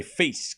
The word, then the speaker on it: Fils: I think one all I call him feels I'm from Chicago, but look, it's uh you got to say feast cuz they don't pronounce the L in Fr.